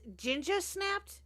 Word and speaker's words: Jinja Snapped: Now, their name is Jinja Snapped. Is that how you say it? Yes. And Yes.